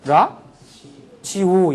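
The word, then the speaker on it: ラジオ: 테레비를 끄다 라디오 라디오 우리는 라디오인데 일본 사람은 라지오 이런다 라지오 참 이상한 사람들이야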